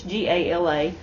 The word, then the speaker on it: Gala: And they had this Gala yarn, or I don't know how you say it, it's G-A-L-A. I say Gala.